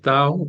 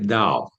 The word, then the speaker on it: Tao: Bueno, el tao está dicho en chino, pero en realidad inclusive no se dice tao en chino, se dice dao.